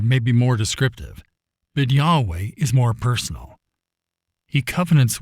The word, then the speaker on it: Yahweh: caps the Hebrew on the other hand is pronounced Yahweh and is based on the term for I